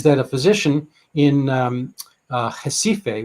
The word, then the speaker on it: Recife: a physician in um jessife which is spelled recife but pronounced differently uh northeast brazil tropical